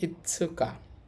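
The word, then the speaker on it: 五日: এটা দিয়ে তারিখ বুঝাচ্ছে উচ্চারণ হবে ইসুকা ইসুকা অর্থ হচ্ছে পাচ তারিখ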